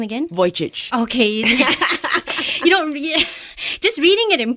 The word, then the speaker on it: Vujicic: Yes, but how did you pronounce the last name again? Vujicic.